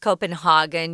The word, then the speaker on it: Copenhagen: I wanted to mention sometimes this city, Copenhagen, is pronounced Copenhagen. You can do either one, but it's in Denmark.